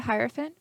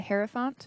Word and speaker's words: Hierophant: it we did get the Hierophant or the Hera font whichever way you want to pronounce it in Reverse so typically